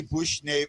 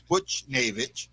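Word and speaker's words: Buchnevich: i say it wrong i say bush butch bush david and it's butch so i i get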